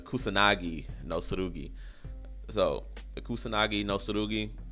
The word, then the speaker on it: Kusanagi no Tsurugi: The Kusurugi no Suru. Hold on. I just forgot how to say it in that quick a time. The Kusanagi no Tsurugi.